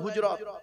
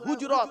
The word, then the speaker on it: হুজরাত: তার নাম হলো সূরা হুজরাত কি বললাম বাপ সূরা হুজরত কি বললাম হুজরাত নামটা উচ্চারণটা ঠিক করে করুন সূরা হুজরাত সূরাটির ভিতরে আছে দুটি